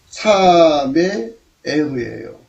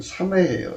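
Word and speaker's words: שמחה: 그런데 이 즐거움에 관해서는 삼의 에흐예요. 삼의 에흐. 그리고 현재 그 히브리어 발음으로는 삼회예요. 삼회.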